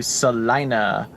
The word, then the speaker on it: Salina: in just a few minutes and get to Salina I said it right now yeah salinaa anyway